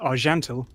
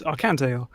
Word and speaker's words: Archantael: pronounced it wrong because it's a Celtic name and it's meant to be pronounced are gentle mm-hmm it written down thought oh it's I can tell and it's not so